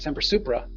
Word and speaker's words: Semper Supra: It's so close to the word super, which is a positive word, and it's got 2 syllables in the front, Semper, two syllables in the back, Supra, and they both start with S, and they both have a P in the middle, Semper Supra.